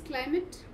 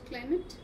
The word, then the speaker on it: climate: You know the word climate? It's not climate, it is climate. Right? We have a tendency to wrongly pronounce the word. It's climate. Climate. Right? The word A should not be stressed.